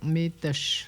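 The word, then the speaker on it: mitush: mitosh. Mitoche, OK. Le U se prononce pas.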